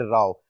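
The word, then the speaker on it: row: तो देखिए dispute and राव, और प्रोनाउंसिएशन भी डिफरेंट है। ये रो होता है, रो, और ये है राव, यानी प्रोनाउंसिएशन भी डिफरेंट है।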